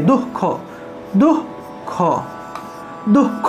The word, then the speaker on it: দুঃখ: আবার আরেকটা দেখুন দুঃখ, ঠিক আছে। এই ক্ষেত্রে দেখুন বিসর্গটা একটা অক্ষরের ঠিক মাঝে আছে, কোন একটা অক্ষরের মাঝে অর্থাৎ অক্ষরের মাঝখানে যদি বিসর্গ থাকে সেই বিসর্গটার উচ্চারণ হ হবে, কিন্তু সেই হটা উজ্জ্বরূপে থাকবে অর্থাৎ পূর্ণরূপে হ উচ্চারিত হবে না, এই ক্ষেত্রে উচ্চারণটা হবে এভাবে দুঃখ দুঃখ দুঃখ, এভাবে উচ্চারণ হবে, ঠিক আছে। দু হ খ এভাবে না, দুঃখ দুঃখ অর্থাৎ হসন্তযুক্ত হ উচ্চারণ হবে।